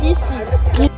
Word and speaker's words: ICI: How do you pronounce ICI? It's Easy.